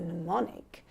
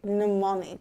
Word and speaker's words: mnemonic: that rhyme as a mnemonic. There we go. I see. Mnemonic. Mnemonic. Yeah. These silent letters, these ones. They're so unnecessary. They are wasting my pen.